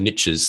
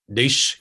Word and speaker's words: niche: And I think once you, the riches are in the niches, they say in the United States. We say niche, not niche in Australia, but it rhymes nicely.